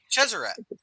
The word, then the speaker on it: Chesarat: Is it like she's a rat? Chesarat, Chesarat. Chesarat.